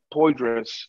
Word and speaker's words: Poydras: It's 930 Poydras. Poydras is spelled P-O-Y-D-R-A-S.